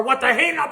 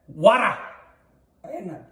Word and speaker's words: Warak Einab: Warak, not what the. Warak. I got heckled again. Warak? Warak. Warak. Einab. Einab. Einab. Einab. Warak Einab. Did I say it right? About. A boot or about? Almost. Warak Einab.